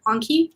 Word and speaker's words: Anki: do you say that anki anki anki is how i say it but i don't know how to say it otherwise it could be yankee anki i've always heard anki okay anki we'll we'll